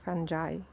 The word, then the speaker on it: fungi: with moss fi you you should pronounce it like fanai we have this word